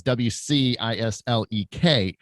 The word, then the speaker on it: Wcislek: So because my last name's Wcislek, and but people don't know that the C is silent, so you don't say it. So it's Wcislek, and it's a Polish last name, but it just screws people up bad.